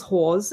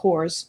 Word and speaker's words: Hawes: Jason kills Hawes and wearing a... That's Hawes, Hawes. not whores, as you would say. Hawes. Horse. Hawes. Hawes. It's Hawes. Hawes. Not horse as in Horse either.